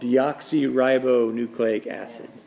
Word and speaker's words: deoxyribonucleic acid: Yeah, DNA is actually an abbreviation for a molecule called deoxyribonucleic acid. We're gonna pronounce it together. Okay, repeat after me. Deoxyribonucleic acid.